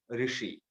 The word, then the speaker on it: ऋषि: कितने लोग गलत बोलते हैं, ऋषि बोलते हैं, ऋषि बोलते हैं, ऋषि बोलते हैं, लेकिन ओरिजिनल उच्चार है ऋषि। हमारी जीभ मूर्धा पर लगेगी और जो उच्चारण होगा वो ऋषि है।